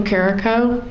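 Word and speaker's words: Carrico: please please tell us your full name and spell it please yeah my name is carico c a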